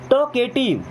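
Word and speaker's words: talkative: then अगला word है टॉकेटिव देखिए इसे पढ़ते हैं टॉक यहां पे एल साइलेंट है ना एटिव टॉकेटिव टॉकेटिव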